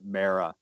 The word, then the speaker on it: Mara: mention that I believe I've been mispronouncing Rooney Mars name I it's actually pretty or pronounced Mehra so I'd like to